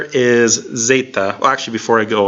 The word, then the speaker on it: zeta: after that is Z with a long a sound Zeta Zeta and it sounds like the Z in days so Zeta Zeta and